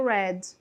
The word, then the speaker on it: read: Esta pronúncia é como se fosse falar a palavra vermelho, tudo bem? Deste verbo aqui, tá? Na forma do passado, OK? Então, quando você lê esse verbo no passado, a pronúncia que você vai utilizar é a mesma da cor vermelha, né? Do vermelho, que é red.